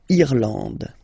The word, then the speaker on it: Irlande: A-N, en, D, and final E, not pronounced. Irlande.